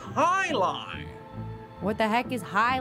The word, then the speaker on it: jai alai: fellows bloodhounds a heck guy a lie it's pronounced Highline what the heck is